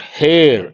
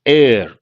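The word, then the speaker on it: heir: are the synonyms beneficiary it is not hair H is silent air and it takes indefinite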